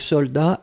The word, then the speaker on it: soldat: Je regarde, vous l'avez bien écrit, attention save the best, soldat avec un T final, on ne prononce pas le T, mais logiquement il devrait être là, d'accord? Donc soldat, S-O-L-D-A-T.